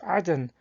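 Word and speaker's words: عدن: For example, in Quran 98:8, the term Eden is pronounced as Aden in the Arabic.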